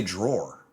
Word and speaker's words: drawer: how you really Nikki's drawer drawer I say drawer that's correct that is correct wait am I